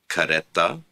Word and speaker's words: careta: to the last syllable, which means when you use a possessive pronoun, you extend the syllables. You add another syllable to the word, so therefore the stress will change. For example, careta, caretahu, careta, caretahu. Note careta, caretahu. Note the change in the stress when you add the possessive pronoun to it.